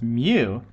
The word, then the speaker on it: mu: This Greek letter, which we phonetically pronounce mu, is a dimensionless coefficient.